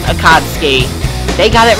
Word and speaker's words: Akatsuki: they pronounced it wrong it's supposed to be pronounced akatsuki when in fact it actually is pronounced akadsky they got it right and the fans are